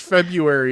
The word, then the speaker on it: February: Stop pronouncing the R so hard. That's the problem. Just February is fine.